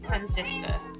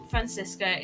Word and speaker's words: Franziska: How do you say her name? It's like a weird spelling of the name. Francisca. It's like Franziska.